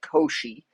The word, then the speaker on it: Cauchy: These are called Koshi Euler. Those are two mathematicians. You guys have seen Euler before, even in the semester, and several throughout. Cauchy is another mathematician. That's how you say it, Koshi.